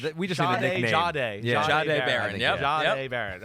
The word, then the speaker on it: Jahdae: Jahdae.